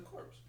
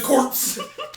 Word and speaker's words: Corps: he drilled into us don't pronounce the P it makes us sound weird it does NYPD New